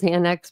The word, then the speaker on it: Xana: She tells the story of Zana introducing herself to the Pi, explaining that her name is pronounced Xanax without the X.